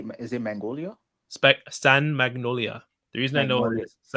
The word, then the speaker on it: San Magnolia: San Magnolia.